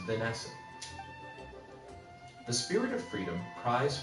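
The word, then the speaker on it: Vennessa: Or, no, it's still probably is just pronounced Vanessa.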